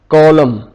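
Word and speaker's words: column: जैसे solemnly, कॉलम, यहां पे एन साइलेंट आ गया।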